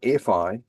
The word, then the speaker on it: Phi: the golden ratio you it sounded like fi but it's spelled Phi oh okay so you